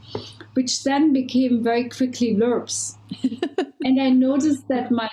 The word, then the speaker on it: LRPP: the LRPPs, but I think you say it's pronounced lurps, right? Yeah, lurps.